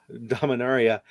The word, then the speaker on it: Dominaria: the dominaria board game dominarian area it's it's pronounced dominaria dominaria have you played that we're all wrong that's awesome i haven't